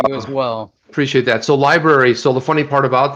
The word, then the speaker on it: LBRY: by the way um it's called lbry it's pronounced library um or odyssey odyssey